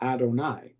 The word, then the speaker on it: Adonai: It's written um y v and hey, but you say adonai. Even when you're reading the Torah, you don't pronounce it.